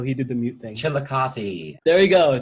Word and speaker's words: Chillicothe: Chillicothe. There we go, Chillicothe, riding horses and swinging war clubs at Kitatati in Tecumseh.